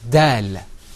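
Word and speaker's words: دال: Okay, now let's move on to the next letter, which is dal. And you can see it on your screen. Say that, repeat after me. Dal.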